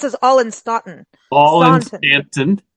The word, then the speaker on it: Staunton: In Stanton. Stanton, but it's spelled S-T-A-U. It's spelled Staunton, but it's pronounced Stanton.